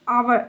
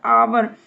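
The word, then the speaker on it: hour: I have been waiting for आवर, एच इसमें silent रहता है, आवर, एन आ जाएगा।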